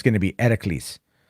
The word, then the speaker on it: Heracles: it's going to be Heracles. They don't say Hercules. They say Heracles. Heracles is how they pronounce it in ancient Greece.